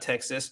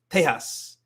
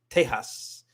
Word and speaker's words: Tejas: It's not Texas. It's Tejas. It's Tejas with an acento sobre el A or la A. It's Tejas.